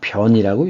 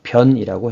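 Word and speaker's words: 便: 편할 자인데 편할 자인데 이게 똥 오줌과 관련돼 있을 때는 변이라고 읽습니다 그래서 대변 대변 소변을 때 똥과 관련돼 있으면 변이라고 해요 그래서 변기라고 하죠 변기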